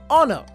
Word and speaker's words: honor: The noun honor begins with a consonant, but the letter h is silent.